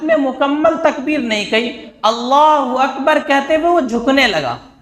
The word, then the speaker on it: اللہ اکبر: دوسرا مسئلہ تکبیر تحریمہ، اللہ اکبر، اس کا تلفظ صحیح ہونا چاہیے. یعنی اللہ اکبر اسی طرح ہمیں بولنا ہے. اللہ اکبر یہ بھی غلط ہے، اللہ اکبر یہ بھی غلط ہے. دونوں غلط ہے. نہ ہمیں اللہ اکبر کے شروع میں جو الف ہے اس کو کھینچنا ہے، اور نہ اکبر میں با کے بعد الف لگا کر کے کھینچنا ہے.